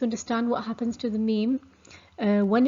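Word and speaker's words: ميم: So this letter name is Meem, and the phonetic sound is ma. And it's similar to the English M.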